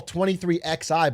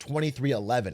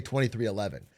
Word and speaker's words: 23XI: The team I call 23XI, but it's pronounced 2311. I was reading the Roman numeral, but real NASCAR heads just say 2311.